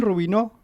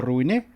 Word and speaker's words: Rubinó: Rubinó, o Rubiné, ¿cómo se dice? Rubinó, está bien, Rubinó. como lo dijiste en principio.